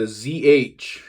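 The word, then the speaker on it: Ж: This letter is called the ZH. Like in, it's an S sounding letter, like in the word measure.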